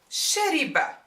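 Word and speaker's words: شرب: As in shariba, rhymes with fa'ila.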